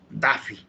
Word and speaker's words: Duffy: Por ejemplo, se mencionaba del sistema Duffy, se escribe así, Duffy. Nosotros leemos, ya nos hemos un poquito distorsionado, un poquito no estamos en English, digámoslo así, decimos Daffy, ¿no?